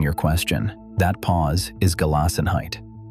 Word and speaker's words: Gelassenheit: Gelassenheit, pronounced gay-loss-en-height.